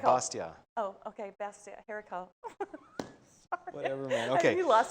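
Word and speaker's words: haricots verts: Well, I don't think the T is pronounced. Kind of like Bastia. Oh, okay, Bastia, haricot.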